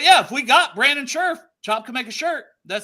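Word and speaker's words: Scherff: if we do get Brandon sherf it is pronounced sherf oh Sheri that's Sheriff okay Sheriff but I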